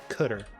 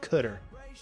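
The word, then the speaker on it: cdr: s path Parts okay cutter that's what they call it cutter I love that they told you how to pronounce it big win on that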